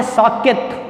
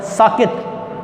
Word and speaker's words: ساکت: کے بعد لفظ ہے ساکت۔ سین کے اوپر زبر، کاف کے نیچے زیر، اور تے پر جزم، ساکت۔ اگلا لفظ ہے مباحثے۔ یہ